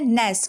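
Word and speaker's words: gnash: यहां पे लिखा है जी एन ए एस इसको क्या पढ़ना है गणेश कानाश बिल्कुल भी नहीं गणेश गनाशक्ति नेस क्या पढ़ना है नेस क्योंकि जी हो गया साइलेंट यह सारे रूल्स है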